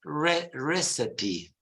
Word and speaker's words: recipe: Richard and it's pronounced recipe uh in America is it the recipe it's not a rich recycle receipt or whatever it's pronounced recipe recipe with a schwa's recipe recipes so you you